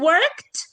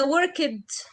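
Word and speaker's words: worked: هم بيقولوا كده يعني بنقول وركت ولا وركد اكيد انتوا الطلبه مثلا لو انتم مدرسين عارفين انه دي برض من احد الاخطاء الشائعه خصوصا عندنا ان احنا بنحب نحط فاولز ما بين التو كونسون فبنقول وركد او بننطق كل حاجه بنشوفها لا احنا بنقول وركت وكمان مش بس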